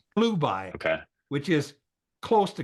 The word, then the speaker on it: Chelubai: Okay, and Chelubai, if you take the CH and pronounce it as a K, it's Klubai, okay, which is close to Caleb.